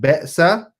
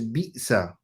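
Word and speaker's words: بئس: So it's not be'sa, it is bi'sa. So it is a ba with a kasra, and the hamza comes after that, which has a sukoon.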